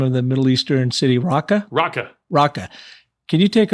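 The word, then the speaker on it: Raqqa: talk about how did you how do you pronounce the name of the Middle Eastern City raka raka raka can you take our listeners as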